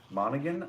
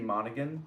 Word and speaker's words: Monaghan: much becky hey becky monaghan i think is how you pronounce her last name becky monegan was it monahan um well it's m-o-n-a-g-h oh yeah monegan yes i would need to